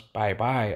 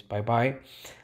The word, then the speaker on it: Bai Bai: as you can see a whale which you pronounce bye-bye apparently his name is Bai Bai he's ranked 1 he